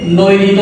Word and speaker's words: নৈঋত: এখন এটার যে প্রমিত উচ্চারণ সেটা এরকম হতে পারে নো ইর রিত, আবার অনেকে নৈরিত বলে থাকে, নৈরিত।